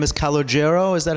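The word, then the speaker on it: Calogero: and then Chaz but your original name is cogo is that how you pronounce Ito cogoo that's the way you pronounce cogo what an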